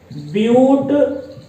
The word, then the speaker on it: but: तो वहां पर हम ब्यूट शब्द का इस्तेमाल करेंगे, इंग्लिश में BUT। आप इसको बट का उच्चारण नहीं दीजिएगा, बट कहेंगे गलत होगा, आप यहां पर इसको ब्यूट बोलेंगे।